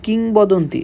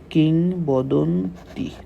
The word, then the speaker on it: কিংবদন্তি: বলছি গর্ভবতী বোনের মৃত্যুর কথা বলছি এখানে দেখো কিংবদন্তী আচ্ছা এটা একটু পরে যাচ্ছি আমি এই লাইনটা